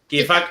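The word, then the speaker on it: كيفك: Kifak to the man, and kifik to the woman. How is it pronounced? Not "kifák". Kifak, exactly.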